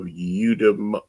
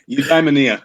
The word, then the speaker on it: Eudaimonia: Signed copy of Udem. Say that again for me. How do you pronounce it? Yeah, Eudaimonia.